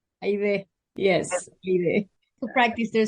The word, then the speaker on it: Haydee: name the way it's originally supposed to be pronounced and not the Americanized version. And it's Aide. Aide.